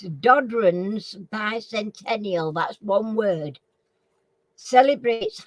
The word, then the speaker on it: Dodrans: Do you want me to spell it? It's long. DODRANS bicentennial. So it's Dodron's bicentennial.